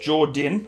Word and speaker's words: Jourdain: I go any further my name is Jourdain pronounced jordan okay I am a